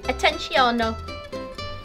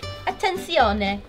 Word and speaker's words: Attenzione: "Attenziono" Ma l'ho detta così male? Davvero? E come si dice? Attenzione.